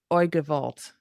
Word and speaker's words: Oy gevalt: And please feel free to correct my pronunciation because So far, so good. No. Or Oy gevalt.